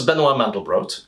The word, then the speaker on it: Benoit Mandelbrot: Benoit Mandelbrot by the way a detail on pronunciation this is Benoit Mandelbrot and the thing he discovered is known as